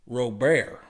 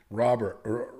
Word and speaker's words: Robert: Bo Bashette Luis Rober Robert I've heard that the Cubans don't pronounce their T's. So it's either Robert or Rober but the but the Cubans don't pronounce their T's.